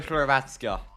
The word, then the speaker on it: Hrvatska: Go Hrvatska.